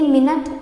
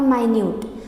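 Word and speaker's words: minute: जैसे कि मिनट और माइन्यूट। तो मिनट और माइन्यूट की स्पेलिंग सेम होती है पर दोनों का अंतर होता है दोनों के शब्द में।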